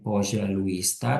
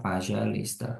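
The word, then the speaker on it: пожалуйста: itu bisa pakai ee kalau misalnya nghafalin bisa pakai poza luista tapi kalau misalnya udah lancar bacanya nanti pakainya P luista karena eh di sini udah rnya penekanan yang tadi sempat dibilang tuh O tapi dibaca a Nah itu adanya di sini nih hurufnya o tapi dibacanya a gitu ini Aku kecepetan enggak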